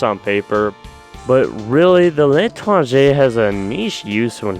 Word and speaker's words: L'Étranger: The L'étranger, yeah, that's how you say it, actually suffers from a worse debuff than the Diamondback, coming in at minus 20% damage.